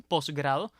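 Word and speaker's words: posgrado: final no la pronunciamos es poco usual que uno diga postgrado lo normal es que digamos un postgrado sobre tal materia por ejemplo Así que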